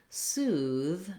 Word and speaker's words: soothe: In the word soothe, we have the voiced TH sound, and we have the tense oo vowel.